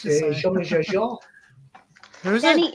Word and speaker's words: Jean-Michel Jarre: Michael Jar Jar Jar. Jean-Michel Jarre. Jean. Barry doesn't Jean. have time for our Jean, shit. as in Jean. He was gone. Just like that. In French, it's spelled Jean. Yeah. His pip car went pip pip. His Yeah. name is spelled G-E-E-N. It is Jean.